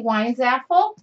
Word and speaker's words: Weinzapfel: August 6 I'm wiin zapple the p is silent in case you don't